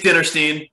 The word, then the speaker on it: Dinerstein: I should have asked David how to pronounce his name. It's Dinerstein. Dinerstein.